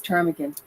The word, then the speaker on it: ptarmigan: If the P is silent, you're right. It's ptarmigan. Ptarmigan. Okay.